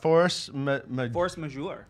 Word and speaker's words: Force Majeure: And then force majeure.